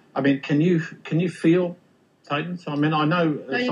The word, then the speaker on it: thetan: So a thetan, we pronounce it a thetan, in Scientology is a consciousness.